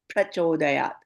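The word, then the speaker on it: prachodayāt: So the easiest way is as if like making the pa as double. And once you get the hang of it, then you can make the first part as a softer, like prachodayat, na prachodayat.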